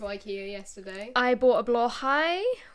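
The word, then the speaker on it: Blåhaj: yesterday I bought a blah High which is how it's pronounced not blahaj like most people say it um which I'm always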